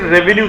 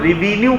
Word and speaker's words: revenue: राजस्व का मतलब है राज्य की जो इनकम है उसे रेवेन्यू कहते हैं और कई बार इसे हम लोग रिवेन्यू कहते हैं। तो इसका जो अच्छा प्रोनाउंसिएशन है वो है रेवेन्यू। रेवेन्यू।